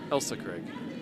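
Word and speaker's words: Ailsa Craig: Crag well done sir Elsa Craig Elsa it's pronounced Elsa is it I like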